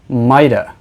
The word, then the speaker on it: might've: speaking we often use the contracted form mightive which is often pronounced mida and in speaking might